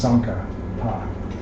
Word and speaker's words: Tsongkhapa: So it's Tsongkhapa. But when you add the J to it, then it becomes Tsongkhapa.